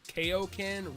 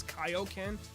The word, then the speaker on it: Kaioken: from my video that I pronounced Koken wrong it's Kaioken I understand that I